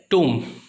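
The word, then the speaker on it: tomb: और आखिर में टूम, इसका मीनिंग होता है मज़ार या मकबरा।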